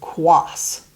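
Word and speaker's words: Quaas: if you have a name that is often misspelled like the name of quas that's a surname in my husband's family tree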